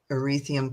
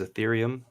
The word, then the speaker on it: Ethereum: contract with hex tokens via erythium coins is that right um the the pronunciation is ethereum i'm sorry yes and